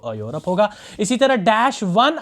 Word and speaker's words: Europe: इसी तरह EUROPE, इसको कोई पढ़ता है यूरोप, तो फिर भी वो अलिफ से नहीं निकल आएगा, वो तो आइन से, क्योंकि इसकी असल में जो प्रोनाउंसिएशन है वो यूरोप है, ये से शुरू होता है, तो ये से ये भी शुरू होता है।